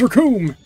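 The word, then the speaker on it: Recoome: His name is Raccoon. It rhymes with doom.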